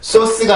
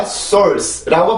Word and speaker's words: source: 그러면 소리 느낌이 굉장히 어색하긴 하지만 어떤 사전을 들어봐도 혹은 어떤 외국인이 발음을 해도 이거는 source가 아니라 source라고 발음을 해요.